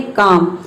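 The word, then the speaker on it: calm: आप देखते हैं एम कब एम अगर एल के बाद एम आता है तो भी साइलेंट रहता है। जैसे कि देखिए यहाँ पे है काम, के ए एम, इसको इतना हो गया काम, इसमें एल जो है वह साइलेंट है।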